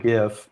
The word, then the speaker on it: GIF: She has an animated GIF or GIF, depending on how you say it, that counts down from 15 minutes, and I think it's in 10-second intervals.